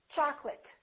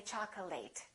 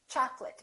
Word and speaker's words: chocolate: a very common mistake chocolate a lot of my students say chocolate it's chocolate because it's a noun accurate affectionate intimate all